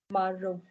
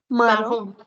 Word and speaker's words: marron: Marron. Marron. Okay, so this is the color maroon, whereas this one is Marron.